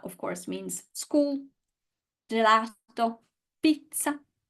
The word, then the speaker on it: pizza: Pizza, pizza. So last syllable, ta. The stress goes on the one before.